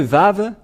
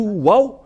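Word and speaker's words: ו: ici entrer dans l'alphabet voilà le vave voilà vave ou vave c'est bien ça donc c'est pas du tout waou mais on le prononce bien V et le v est apparu vers moins 200 avant yahoshua et on le prononçait V et nous allons revenir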